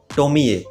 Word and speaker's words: Tomie: story टोमी ए हां इसकी spelling भले ही ऐसे लिखी हो मगर इसका ओरिजिनल प्रोनंसिएशन है टोमी ए एंड हां इस मांगा